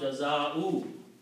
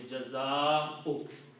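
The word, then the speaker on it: جزاء: Waw should not be pronounced. Okay? So don't pronounce jaza'u. Okay? It's, the sound of hamza should come out only, jaza'u. If you stretch this, it will become the sound of waw.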